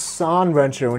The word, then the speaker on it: 3Rensho: And before you comment, I know it's pronounced San Rensho in Japan, but I'm speaking in English and they use the Arabic numeral in their name, so I'm calling it 3Rensho.